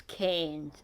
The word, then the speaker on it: Cairns: It's Cairns, it's not all those other things that he said.